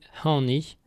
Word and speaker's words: hani: Remarque importante, en Ventais, il ne faut pas confondre le pronom ani que nous venons de voir, prononcé avec un a bref non nasal, et hani avec un an nasal long, qui veut dire aucun ou personne.